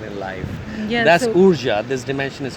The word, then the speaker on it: Urja: Urja is actually described, if you look it up on Google, URJA or OORJA, the pronunciation is Urja.